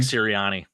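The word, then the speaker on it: Sirianni: you say Nick's last name Sarah serani Nick serani yeah Nick serani by the way Jamestown New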